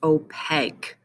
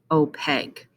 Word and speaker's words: opaque: that is translucent okay and this word is pronounced opaque opaque that's when matter does not allow light to